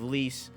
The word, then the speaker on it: Lise: That's spelled Lise. So it's like Lisa, but Lise.